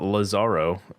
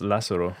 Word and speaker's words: Lazzaro: I was like oh it's not Lazaro it's Lazaro yeah I'm just a stupid